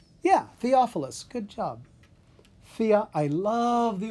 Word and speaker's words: Theophilus: Theophilus. Yeah, Theophilus.